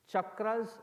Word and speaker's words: chakra: the most seemingly fitting one is there are chakras in the body have you heard of chakras